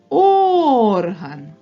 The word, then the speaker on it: орган: а н покличемо його орган наголос падає на звук О він є наголошеним орган А як тільки ми поставимо наголос на звук а то в нас вийде орган музичний інструмент орган орган ось